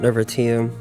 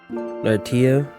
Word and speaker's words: Nirvatia: In Chinese, it's pronounced Nirvatia. In English, Nirvatia.